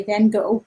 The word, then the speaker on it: Van Gogh: van gogh exhibit and dutch speaking people please forgive me i pronounce van gogh like van gogh i am an english speaker although it is incorrect here's what google translate